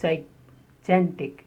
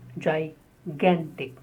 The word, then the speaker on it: gigantic: Many people pronounce it wrongly as gigantic. It is gigantic. Ga. The stress on ga.